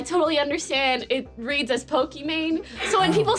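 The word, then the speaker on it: Pokimane: saying that right pokemane people say pokemane is my name pronounced iman my name is iman so it's the second half of the name i am a and yeah so it's meant to be like pokemon kind of like the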